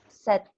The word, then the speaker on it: said: The pronunciation, it's e. This combination AI, it's pronounced e. So you pronounce it like set, like in Spanish if you are thirsty. You have that. Tienes sed. Así se pronuncia igual.